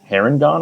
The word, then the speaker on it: Harengon: I am a Harengon, I think is how you say it.